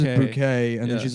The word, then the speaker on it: Bucket: Her last name is Bucket, but she pronounces she pronounces bouquet and then she's like ashamed of her white trash family.